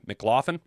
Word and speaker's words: McLaughlin: Mick, not Mac, McLaughlin, to a future contract.